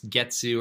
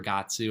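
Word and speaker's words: 月: And you all know month, you pronounce Getsu or Gatsu, in some cases Tsuki, moon.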